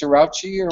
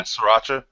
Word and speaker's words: Sriracha: I'm not that this um how what's it pronounced Sriracha or whatever yeah Sriracha yeah I I put that stuff on like